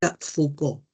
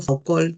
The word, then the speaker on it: Foucault: Foucault se pronuncia Foucault porque es francés, no Fucol, sino Foucault.